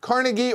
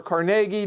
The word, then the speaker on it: Carnegie: zero people we have Carnegie or Carnegie depending on how you want it pronounced designed by Xavier George